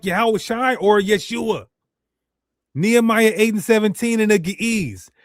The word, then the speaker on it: Yeshua: Proper pronunciation, Yeshua.